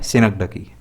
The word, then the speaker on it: synecdoche: Pronunciation ध्यान रखिएगा, इसका प्रोनाउंसिएशन है सिनकडकी।